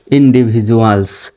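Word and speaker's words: individuals: আগেও ভাল আছে পরেও ভাল আছে সেখানে ডির উচ্চারণ ডর মত না করে জর মত করবেনযে যেমন এখানে ইন্ডিভিজুয়ালস with W আই টি H with দেখেন শব্দের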